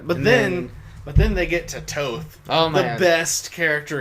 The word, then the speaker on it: Thoth: I've heard it pronounced Toth. It's Toth. By one of the guys that you went to see it with. Yeah, but it's... In the movie they pronounce it Toth. Yeah. I don't know. I've also heard it Thoth, so...